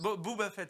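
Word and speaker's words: Boba Fett: comment on le prononce Booba fit fa comme la fête ah c'est comme la fête Booba fê alorsob Boba voilà parce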